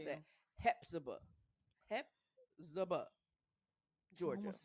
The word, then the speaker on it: Hephzibah: Hepzibah. Hepzibah. I don't know. Hepzibah. Spell it so people could get it right.